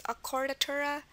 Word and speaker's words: accordatura: Another example is accordatura.